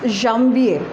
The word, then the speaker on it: Janvier: Then what is January is Janvier, Janvier, and the pronunciation is Janvier.